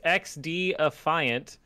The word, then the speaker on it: XDefiant: Tom Clancy's XDefiant is Thank a you free-to-play... for pronouncing that correctly.